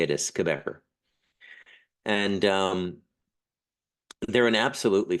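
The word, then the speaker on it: Cabécar: tribe is the quebecer it sounds like somebody from the province of Quebec if you're Canadian the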